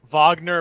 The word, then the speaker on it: Wagner: March of Justice progression declared oh and it's pronounced Wagner may have just joined NATO well no still